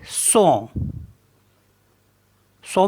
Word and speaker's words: son: है good S ओ एन तो इसको पढ़ेंगे सो सो मीस होता है साउंड साउंड एन ओ एन